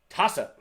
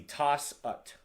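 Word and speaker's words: 다섯: Taset. As you can see, toss-ut.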